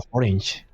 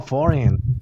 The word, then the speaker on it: foreign: Pero yo la pronunciaba forange, porque tiene una G. Y él se quedaba como que, ¿qué rayo estás diciendo? Dice forange. O sea, que vive en otro país, no forange. ¿Naranja? Y me dijo, no, foreign. La G no se pronuncia, pero fue después de